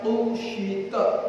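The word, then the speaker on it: قشطت: Wa qara'a Ibnu Mas'ud kusyitat. Pakai qaf. Wa idas sama'u kusyitat. Kalau yang mau pakai kaf. Tapi Ibnu Mas'ud bacanya kusyitat pakai qaf.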